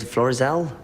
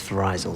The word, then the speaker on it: Florizel: just that yeah well you said Florizel I thought the pronunciation was for izel sorry nice Flores all